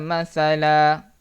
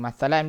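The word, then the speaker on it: مَثَلًا: Bihadza masala. Jangan baca masalan pula Bacanya dengan satu baris saja.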